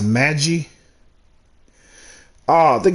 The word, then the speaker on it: Magi: can hear it okay Magi it's Magi Magi mag guy I've been saying mad guy I was saying mad guy at first it's Magi Magi Magi